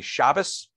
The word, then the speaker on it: Shabbos: So just some examples of that, and then I'll call on you, Larry, is the word for the Sabbath in Ashkenazi pronunciation would be Shabbos, and in Sephardic pronunciation would be Shabbat.